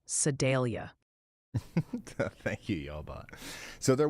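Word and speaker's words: Sedalia: Also, the Sidelia fan club wanted me to tell you it's pronounced more like Sadelia.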